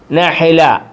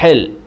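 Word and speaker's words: نحلة: ബൂള കൊതുക് ബൂള കൊതുക് നഹല നഹ നഹൽ നഹൽ എന്നും പറയും തേനീച്ചക്ക് നഹല എന്നും പറയും താന് ഉച്ചാരണം കൊടുക്കത്തില്ല നഹൽ നഹല നഹല തേനീച്ച നഹല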